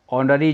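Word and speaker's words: honour: लेकिन इन शब्दों को पढ़ते हैं दोस्तों आर, ऑनररी job, year, ईयरएस, ऑनर। अब आपने देखा दोस्तों इन शब्दों को पढ़ने पर इनका प्रोनाउंसिएशन जो आ रहा है वो एच जो होता है वह साइलेंट के रूप में आ रहा है।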